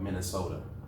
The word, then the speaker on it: Minnesota: Yeah, With a D, but it's spelled with a T.